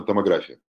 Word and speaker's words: томография: У нас рутинно делается компьютерная томография. Как говорил профессор Курыгин, томография – это все равно, что говорить фотография и порнография. Правильно ставьте ударение в русском языке.